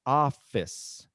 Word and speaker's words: office: is one of the words that is most mispronounced because a lot of people say officee okay it's office office and this office was hard for me